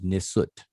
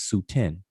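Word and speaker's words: nswt: extra on that um the word for king is nisot right but there are people who don't accept honorific transposition that will pronounce it as su-10 and and and and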